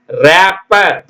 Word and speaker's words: wrap: டபள்யூ க்கு உச்சரிப்பு இல்ல wrap பிபி இ ஆர் ராப் சரிங்களா ரேப்பர் டபள்யூ க்கு உச்சரிப்பு இல்லை அடுத்த பாடம் இதோட நம்ம